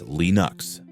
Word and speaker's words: Linux: The name stuck, though pronunciation debates continue. Torvalds himself says Linux.